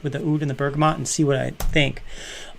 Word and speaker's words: bergamot: one here ooh bergamo bergamot bergamot that's what it's called not bergamo i've been saying i